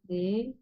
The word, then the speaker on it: aient: Et dans le cas de ils aient, voilà, on ne prononce pas le ENT, on prononce I.